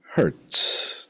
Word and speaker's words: Hertz: hers not like that the hurts is the last name so there's one hurts not one hurt as sometimes people have Tendencies to to pronounce now where are we